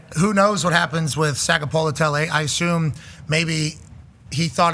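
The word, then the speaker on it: Sagapolutele: Sagapolotele.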